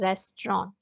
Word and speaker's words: restaurant: हिंदी में मैंने लिखा है रेस्टोरेंट, बट जब इंग्लिश में बोला जाता है तो उसका करेक्ट प्रोनाउंसिएशन जो होता है वो होता है रेस्टोरेंट.